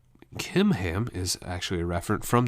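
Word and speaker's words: Chimham: they head to Guth kimam so in English it's with a CH but the Hebrew language doesn't have a a CH sound like we did so he pronounced those like a k kimam is actually a reference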